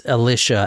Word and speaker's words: Alisha: I keep calling her Alicia. I'm sorry. It's Alisha, actually.